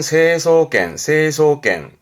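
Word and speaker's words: 成層圏: 성층권, 발음은 세소겐.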